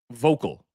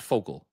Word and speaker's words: vocal: I think there is I always mispronounce this word. Vocal, not focal, vocal contingent of the fan